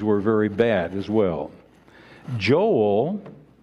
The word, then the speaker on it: Joel: very bad as well Joel or yoel the Hebrew pronunciation of this was one of those